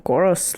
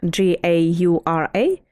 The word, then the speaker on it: Gaura: what I mean, as garas. Elaborate on that, because I can't remember who are they. Garas? If you or goros, like people pronounce it differently, if you Google it, Gaura.